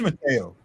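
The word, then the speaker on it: Mathieu: be wrong, but I've it's always been Matthew to me. I thought it was Matteo. Yeah, it is Matteo. Well, they it's M A T H I EU.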